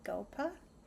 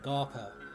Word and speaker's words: Gaupa: Gaupa. Okay, so we are going to listen to and forgive the pronunciation Febersvan, Febersvan by Gaupa. I did look up that it is Gaupa instead of Galpa.